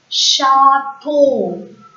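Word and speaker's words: château: CH, when it comes together in a word, CH is pronounced as ish, sh in French. So this French word is pronounced as chateau.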